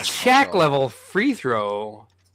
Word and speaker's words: Shaq: It was Shock. It was Shaq. Shaq, not Shock.